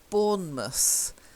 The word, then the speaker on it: Bournemouth: So the first one, Bournemouth. Okay, we don't say mouse, we tend to say mus.